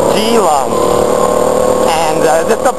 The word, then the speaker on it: Keelung: For example, If you look at a Chinese map, a lot of the cities are written with a K, and K is actually a G sound. So there's a place, you know, like, there's a place called Keelung above Taipei, but it's not Keelung, it's Geelong.